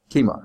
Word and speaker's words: Kima: How do you pronounce it? Kima. Okay. I thought I was saying it right.